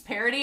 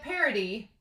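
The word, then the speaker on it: Paradis: is so we have parody the s is silent i also want to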